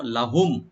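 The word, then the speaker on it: لهم: উলাইকা, কাবে টান নাই, মানে ওইসব লোকদের জন্য, লাহুম ওদের জন্য থাকবে, তাদের জন্য বরাদ্দ থাকবে। তো লাম এখানে অবশ্যই টানবেন না, আর মিম সাকিন এখানে জাহার করবো আমরা, জাহার স্বভাবই।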